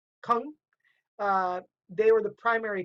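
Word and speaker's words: !Kung: They were known as that, and that include groups like the Kung, and yes, that is pronounced with clicking your tongue like Kung.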